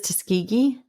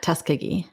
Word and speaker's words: Tuskegee: Did you find out how it's actually pronounced? Did you Tuskegee? It is Tuskegee. Mhm. Not Tuskkegee.